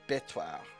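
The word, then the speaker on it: Béthouart: Only Betoir was actually hard. Actually, with the accent mark here, it should be Betoir.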